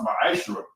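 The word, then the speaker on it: מעשר: Tithes, which is a commandment, you can find this in Numbers 18:21, and Malachi 3:8-10 means 10th in Hebrew, and it's pronounced ma'ashra.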